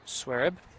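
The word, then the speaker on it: Xuereb: That's spelled X-U-E-R-E-B. Pronounced Swereb.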